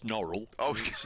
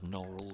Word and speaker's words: Norwell: the next Villages is a place spelled exactly the same but it's norl you know it is it is you know it pronounced as as norl so um every time